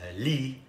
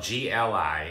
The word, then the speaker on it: gli: In Italian, it's li, and it's spelled G-L-I, and I was trying to speak Italian there, and I was going gli, gli, and they were like, what are you talking about?